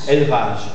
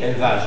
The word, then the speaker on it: élevage: Donc, la caïda de E muet, la perte de E muet de la syllabe suivante, de E muet, fait que le E, même s'il a l'accent circonflexe, se prononce E ouvert.